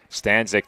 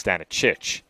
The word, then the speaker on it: Stanicic: Did not allow Stanzik to get a shot off. I apologize. That's Stanicic who looked to shoot there.